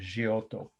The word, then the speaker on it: Giotto: from indiana chiaro g-i-t-t-o it's of course italians pronounced giotto with two t's 1306 wow is there a